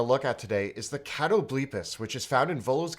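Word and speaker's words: Catoblepas: to Matt Mercer yes I thought it was could tow bleep es I have pronounced it I think different every time I've said it but apparently according to D&D beyond cattle bleep as' is the appropriate pronunciation however you want to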